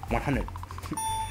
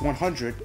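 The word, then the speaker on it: hundred: 100. It's 100, but people pronounce 100. Like, without the R.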